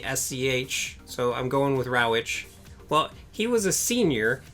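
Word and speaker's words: Rawitsch: thing deal with it so in 1971 Don Ravitch I think that's how you pronounce his name Don brauch it's Rawi T SCH so I'm going with Ravitch well he was a senior at Carleton College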